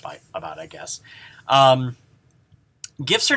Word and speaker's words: GIF: going to be controversial the gif format is pronounced just like that with a hard g now some people believe that it should be a soft g and therefore pronounced like jiff just like the brand